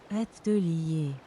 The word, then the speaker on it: atelier: Now I can return to my atelier. Wait, no, there's no way. Is that right? Aren't there more letters in atelier? Atelier? Atelier. Holy shit, I think I'm right. Atelier.